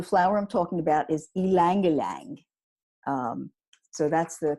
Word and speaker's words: ylang ylang: time so the flower I'm talking about is ylang ylang so that's the correct way to say it